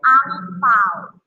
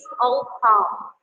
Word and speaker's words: 红包: Because Chinese people in Indonesia always say it as ang pao. So we just know that the real pronunciation is ong pao.